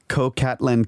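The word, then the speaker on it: Coxcatlan: going to pronounce this cocatlan cave it's c-o-x-c-a-t-l-a-n oh yeah it's got an x in it can't help you well i'm not going to pronounce the x which is in uh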